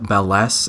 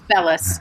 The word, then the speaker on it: Bellis: We have Melinda Belless and Dennis Campa. Tell us a little bit about yourselves, and correct me if I mispronounced your names. Okay, you want to go first, Melinda? Sure. It's Bellis.